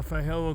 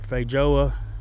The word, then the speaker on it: feijoa: over there planted my feijoa guava or feijoa depends on who you talk to how it's pronounced I planted it outside